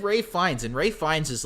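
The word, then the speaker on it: Ralph Fiennes: wait it's right yeah it's pronounced it's pronounced Rey yeah it's it's yeah it's weird like he goes by Ray fines not Ralph um but yeah no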